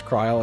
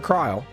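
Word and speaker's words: Krile: What's the consensus on how to pronounce Kryl? I've been calling her name Krill for too long to change. I've always called her Kryl. Because if it was Krill, it would have another L.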